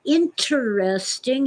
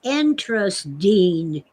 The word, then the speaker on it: interesting: words but my lord interesting has four syllables it is not pronounced entrust dean they sound like four-year-olds